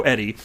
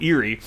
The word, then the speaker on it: Eri: hearing or something but but the name is crypto Eddie but it's spelled Eri and so I was an unseen and it as crypto eerie and then I had